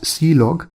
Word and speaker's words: clog: Now, this is used for standard errors, and then the last one is clog which is pronounced as see-log, and this is used for general information like log information and all.